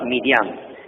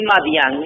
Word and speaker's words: Midian: Midian y Madian es lo mismo, porque las vocales no se notan en el texto hebreo. Entonces vino una pronunciación de I y una pronunciación de A. Madian y Midian.